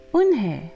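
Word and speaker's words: Unhei: new here what's your name a girl asked one hey said woman hey Oh nay the girl asked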